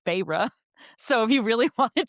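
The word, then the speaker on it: Feyre: I know her name's not fire. I know that's how I read, but it's but listen but listen to how close it is to fairy. Her name is Phyra.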